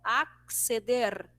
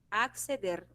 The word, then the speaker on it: acceder: Em espanhol é evidenciado cada letrinha, né? Ó, acceder, acceder.